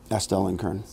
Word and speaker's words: Astell&Kern: about the A&K device, let's say it as Astell&Kern. Astell&Kern. I didn't want to mispronounce it, and all of a sudden I went Astral. No, I started to go Astral. I started to say Astral, and then so I said A&K.